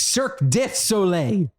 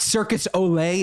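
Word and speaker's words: Cirque du Soleil: would go off I I have to correct your pronunciation of cir it's cir dle not Circus Olay it's not like a Spanish circus I'm trying to make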